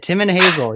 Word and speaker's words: Timon Hazell: And we also have the Karl Storm and a special guest today, Timon Hazell. Did I say it right? Welcome. You got it. Timon Hazell.